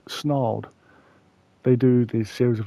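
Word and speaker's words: Snarled: I first heard that story on a YouTube on a YouTube channel called Snald.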